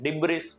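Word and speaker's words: debris: over and डिब्र ये एस है ना साइलेंट है डिब्र इसको नहीं बोला जाएगा हम क्या इसको बोलेंगे डिब्र एंड लास्ट है एफ्लूएंट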